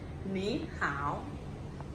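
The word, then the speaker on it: 你好: Okay, so if you meet Chinese person want to say hello, you say ni hao.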